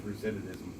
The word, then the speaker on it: recidivism: If I just said it real quick, recidivism, then, there you go. Oh, okay. Recidivism. Yeah. Oh, is it? Yeah. Oh, man, I've been mispronouncing it this whole time.